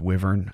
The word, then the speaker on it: wyvern: But then there is the wyvern, or I think sometimes it's pronounced wyvern. I always pronounced it wyvern, so that's what I'll be calling it.